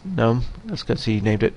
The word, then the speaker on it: GNOME: um it is pronounced gnome even though that g is in there it's silent because it's uh from